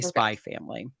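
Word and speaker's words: Spy×Family: Everyone on Google says you don't pronounce the X, you just say Spy Family.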